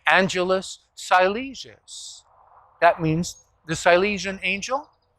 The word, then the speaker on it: Angelus Silesius: chose the name uh i'll pronounce it in english american way angelus silesius that means the silesian